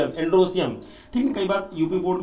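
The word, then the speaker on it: androecium: सी आई यू एम एंड्रो Siem ठीक कई बार UP board में हम लोगों को स्पेलिंग की बड़ी दिक्कत होती है तो इसको एंड्रो इियम एंड्रो सियम बोलते हैं बट एंड्रो सियम लिखने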